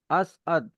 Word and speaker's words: असद: का ध्यान रखना चाहिए अब जैसे यहां पे भी आप देखोगे असद असद अब यहां अ स और द नहीं है अ स अ द है तो असद तो